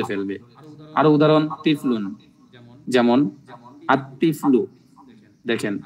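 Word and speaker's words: الطفل: আরো উদাহরণ তিফলুন যেমন আত্তিফলু দেখেন এখানে আত্তিফলু লামটা বাদ পড়ছে আলিফটা সরাসরি তকে ধরেছে বলুন আরজুলু আলিফটা র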